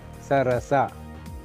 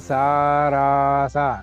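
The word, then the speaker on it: ಸರಸ: Sarasa. Sarasa. Sarasa. Not sa. No it is sarasa.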